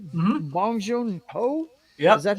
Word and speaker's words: Bong Joon-ho: Bong Joon-ho? Yep. Is that how you pronounce that? Bong Joon-ho, yep.